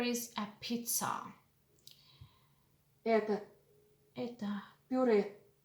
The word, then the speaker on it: пюре: Это Это пюре. А вот пицца. Это puree. Mashed potatoes is puree. We do not palatalize r in this word.